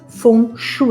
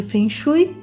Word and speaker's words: Feng Shui: influencia as nossas emoções algumas pessoas pronunciam sem em outras funcho e eu vou chamar de Feng Shui e na verdade eu